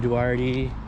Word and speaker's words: Duarte: mutually symbiotic relationship anyways we out here in duarte that's how you pronounce it dude i just moved here here yeah barty hurts i don't know man we're pretty sure it's pronounced duarte but we're out here on this little bike